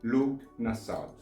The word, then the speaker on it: Lughnasadh: But for the sake of this video and due to my respect for Lugh, I will say Lugh Nasad, hoping not to offend you too much. So, Lugh Nasad is one of the 4 fire festivals, one